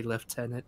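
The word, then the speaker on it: lieutenant: Warhammer uh Space Marine they say left tenant I know that's a proper way to pronounce it but I'm too American so I refuse Marcus and kitten were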